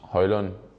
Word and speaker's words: Højlund: do that uh yes my name is Rasmus hollon I hope you got it right now no no it's yeah you can pronounce however you want it they did it differently in Italy they did differently in in Austria as well so it's just how people want but the correct pronunciation